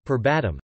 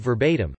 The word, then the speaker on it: verbatim: had a manager who said per bottom instead of verbatim and I winced every